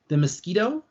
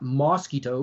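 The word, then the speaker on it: Miskito: Americans from like Nicaragua and Honduras called the Mosquito, not mosquito, but Mosquito. It's spelled differently, completely etymologically, like history of the word's different.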